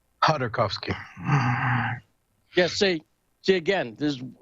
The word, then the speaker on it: Khodorkovsky: It's like Hordakovsky, right? It's the K's silent. Khodorkovsky.